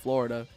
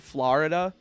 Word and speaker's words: Florida: in the state of Florida I also can't stand people that pronounce it Florida I'm like it's a o it's not an a you it's Florida and then there's the artist